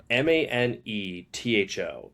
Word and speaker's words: Manetho: It's just it's pronounced differently than how it's spelled. Manetho. It's like Menento or Mainto.